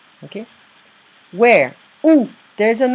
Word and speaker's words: où: Où se trouve le restaurant? Okay. Où? It's like who, this pronunciation, but it means where.